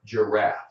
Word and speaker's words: giraffe: How about the word giraffe? Giraffe. That animal in Africa with a very long neck, a giraffe. That's spelled with a G, but it sounds like a J.